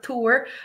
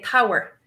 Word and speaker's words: tabhair: I'm glad you used that example for that verb, TABHAIR, tour. I would actually even say tower. So a different one from all three of those pronunciations in my Munster dialect.